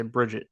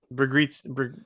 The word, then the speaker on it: Brigitte: It's I want to say Bridget.